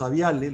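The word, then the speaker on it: Avialae: Por aquí arriba empiezan ya los aviales, los aves, ¿no? Y aquí vamos a decir que la terminación AE se pronuncia E, es aviale, dromeosauride, trodontide, pero es importante de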